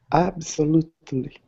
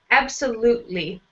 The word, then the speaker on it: absolutely: Absolutely. Yeah, so here with this T, not so much with the T sound. Absolutely.